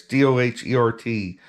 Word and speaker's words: Doherty: So this cavalry detachment was under a Lieutenant Edward Daughtry. I'm hoping I'm pronouncing that right. It's Doherty, Daughtry.